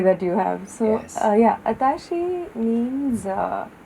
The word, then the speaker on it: Atashi: mispronounces your name completely which is why I always go by atashi and not aashi you have to put